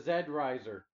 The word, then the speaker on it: Z Riser: here we have the zed riser or zet z riser oh it's pronounced that like zed i like it and